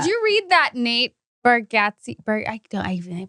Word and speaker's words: Bargatze: did you read that Nate Bargatze? I'm pronouncing everyone's name wrong. Bargatze? No, you did great. Bargatze.